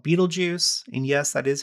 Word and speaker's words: Betelgeuse: You have the star called Betelgeuse, and yes, that is how it's pronounced.